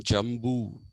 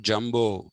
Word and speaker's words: jambu: it got the name jambu in jamun originally was jambu jambudvi and it's not jumbo come on jumbo is different uh so it got